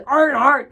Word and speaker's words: Earnhardt: Kannapolis is the home of Dale Earnhardt, and so Earnhardt is how you say that.